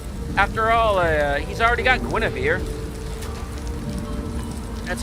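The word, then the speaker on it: Guenhwyvar: After all, he's already got Guinevere. That's how I pronounce the Panther's name.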